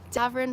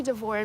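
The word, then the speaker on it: Davoren: speak for me about D'vorin Park. I say D'vor. Davvern Park. I I say D'vorne because that's how it spells it.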